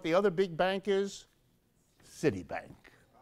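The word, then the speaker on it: Citibank: other big bank is City Bank don't mispronounce that don't make the S into a sh sound because that gets get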